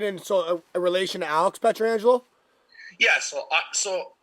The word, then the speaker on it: Pietrangelo: I'm not related, and Alex, I guess I think he makes it pretty adamant that he wants to be called Pietrangelo. Yeah. As I just pronounced it, I kind of realized it after.